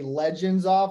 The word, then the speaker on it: Legenzoff: One time somebody did say Legenzoff, and I was like, dang, I've been saying it wrong this whole time. Like that was spot on, perfect, man.